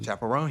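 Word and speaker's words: Chappell Roan: Rodrigo we've started going to Chapel Ron um Chapel Ron he said it right you know other let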